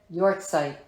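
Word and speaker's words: yahrzeit: the Jewish faith tradition y site really mhm guys that is spelled y a h r z e i t and it is said your sight I'm sorry I'm not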